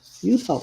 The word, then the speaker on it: Yupo: Yupo, I said it right.